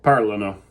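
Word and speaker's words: parlano: no for this one you're gonna stress that first syllable under the a everybody para la no very petite de perak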